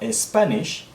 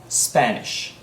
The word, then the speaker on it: Spanish: with this word Spanish it's not a Spanish it's Spanish okay next special special all